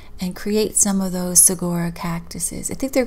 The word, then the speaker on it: Saguaro: create some of those segura cactuses i think they're called it's it's got a g in it but it's so it's hard to say um you don't pronounce the g it's aurora cactus and the arms